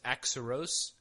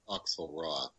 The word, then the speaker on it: Auxerrois: It was Axaros. Axaros. Well, I believe it's pronounced Auxerrois, but Axaros.